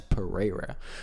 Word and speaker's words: Pereira: I know how to pronounce Pereira. That's Pereira. So I'm not a promoter, right?